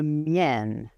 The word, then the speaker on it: mien: Le mien. Il prononce le N final.